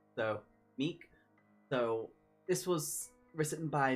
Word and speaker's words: Mique: And they said Mique, but that's how it would be, that's how it's spelled with like Dominique. So, Mique.